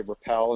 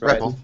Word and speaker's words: REPL: this framework is the I don't know if you actually pronounce it REPL or you just say Repl environment. Repl. Yeah, Repl.